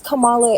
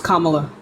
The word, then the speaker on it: Kamala: how can how is Kamala any better that's not how you pronounce her name it's Kamala uh okay Cam camalo